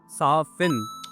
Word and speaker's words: soften: So हिन में जेका टी आहे उहा साइलेंट आहे, सो इन जो करेक्ट प्रोनाउंसिएशन आहे soften.